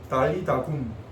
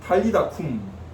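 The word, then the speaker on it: ταλιθα κουμ: 달리다 굼. 달리다 굼. 한글로 번역하면서 약간 발음을 약하게 한 것입니다. 약한 소리로 한 것입니다. 헬라어로는요 탈리다 쿰으로 되어 있습니다. 탈리다 쿰.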